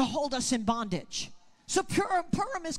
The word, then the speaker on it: Purim: In that very critical time between Purim, I'm sorry, I have to train myself to say it different. It's pronounced Purim. Purim and Passover, which is 1 month and one day.